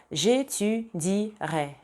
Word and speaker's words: j'étudierai: Если у глагола первой группы в предпоследнем слоге есть гласный, например, continuer, либо étudier, oublier, то в будущем времени не звучит никак. J'étudierai, je continuerai, il oubliera. Только так. То есть это вообще в произношении отсутствует.